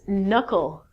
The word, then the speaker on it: knuckle: your hand he recalled your knuckles not your k'nuckles good next one these